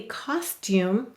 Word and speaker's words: costume: it you um costume now if you say this very carefully costume and you say it carefully but faster and faster costume costume do you hear it the tune turns into a ch costume instead of costume what